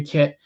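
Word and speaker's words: Kiet: the community that's uh kit and guy it's pronounced kit but it's spelled k-i-e-t n as in the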